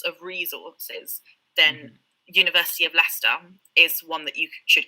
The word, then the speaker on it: Leicester: chat as well because leicester is is not pronounced how it's spelt which is the joy of british place names they are so often not pronounced how they're spelled um also university of leicester not in leicester um